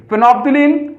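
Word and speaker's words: phenolphthalein: तो देखो हमने दो एग्जांपल ले लिए, फिनोप्थिलीन इसको बोलते हैं फिनोप्थिलीन, एल साइलेंट है, फिनोप्थिलीन एंड मिथाइल ऑरेंज।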